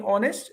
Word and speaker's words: honest: Even though we have H in honest, we don't consider H. We just consider from letter O.